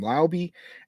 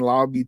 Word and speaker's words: Laube: So I've heard his name be pronounced different ways. Um, when I was watching tape on him, they were calling him Laube, and so I'm going to roll with that until I'm corrected.